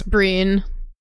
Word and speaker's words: Breen: I always thought it was Braun, but you've been saying Breen tonight. It's Breen. Pronunciation is different with a B in front than with an S.